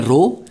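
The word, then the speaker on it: rho: रो रो इज द इसको pronounce करते हैं रो इट इज अ कांस्टेंट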